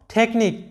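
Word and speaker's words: technique: এরপরে দেখো টেকনিক, টেকনিক, লক্ষ্য করো যে সিএইচ এর উচ্চারণটা ক এর মতো হচ্ছে, টেকনিক, যেটার বাংলা অর্থ হচ্ছে কৌশল।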